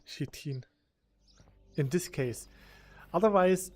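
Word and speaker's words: chitin: said it correctly no the correct way is shitin because that's how you pronounce it it's a weird word English is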